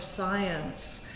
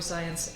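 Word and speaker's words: Zajonc: speakers to whom Blakey refers as are their science who is from is name is spelled z a.j ONC and so often people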